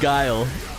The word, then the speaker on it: Guile: in the world oh is that not how you pronounce this it's guile guile he's a street fighter